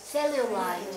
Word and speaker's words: cellulite: 好，那么麂皮组织就是皮下脂肪团，怎么念？Cellulite.